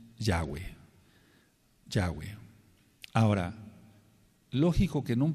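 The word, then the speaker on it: Yahweh: nosotros Por así decirlo ellos siguen mencionando la acentuación en la última sílaba Por así decirlo dicen yahwe Bueno pero lo correcto lo más correcto es lo correcto pues es en la sentación en ya yahwe por qué Porque está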